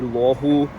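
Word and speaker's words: Luohu: in Chinese that is in English you definitely say lohu for the Shenzhen side and lowu for the Hong Kong side we're now much closer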